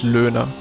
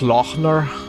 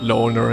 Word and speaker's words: Löhner: Löchner, or what most people say, or. But, the best pronunciation is Löhner. I accept I accept Löhner in like an English way of speaking it.